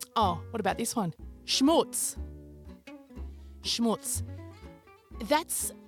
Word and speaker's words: schmutz: what about this one schmutz schmutz that's there's no chance I've mispronounces because it's SCH M double OT Zed schmutz not taking any chances